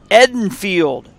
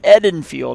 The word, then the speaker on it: Edenfield: pitch tomorrow ah fYI Edenfield is pronounced as short valas in the color red Edenfield not Eden field that is all right